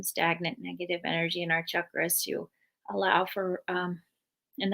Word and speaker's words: chakras: work with chakras or i know we pronounce it chakras but um chakras which are based in